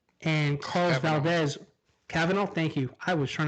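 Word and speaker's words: Cavanagh: show the flash so excuse me if i butchered this man's name you're tom canavan and carl valdez cavanaugh thank you i was trying to figure that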